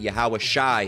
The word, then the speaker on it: Yahawashi: right but it's it it's not pronounced that you'd get yahawashi if you pronounced it correctly in the in the Poo Hebrew all right and what